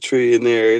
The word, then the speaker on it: Trillionair: We just pronouncing it trillionaire. It ain't even spelled the same thing.